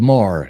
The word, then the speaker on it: Moher: The Cliffs of Moher. I better be able to get that one Mohair.